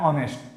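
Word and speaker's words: honest: एक उदाहरण लेते हैं, ऑनेस्ट। ऑनेस्ट का हम लोग उदाहरण लेते हैं, ऑनेस्ट, ये भले एच हो रहा है, इसको हॉनेस्ट को नहीं पढ़ेंगे, इसको ऑनेस्ट हम लोग पढ़ते हैं।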